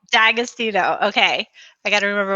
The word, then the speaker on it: D'Agostino: feeling like I don't quite nail the right pronunciation D'Agostino D'Agostino okay I got to remember where the emphasis